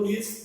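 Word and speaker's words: Niels: Bohr's model of atom, चलिए first one, the full name आप जानते हो, साइड नाइल्स बोर कहते हैं, स्पेलिंग पढ़िए मेरी, कुछ लोग नील्स बोलते हैं, कुछ नाइल्स बोलते हैं।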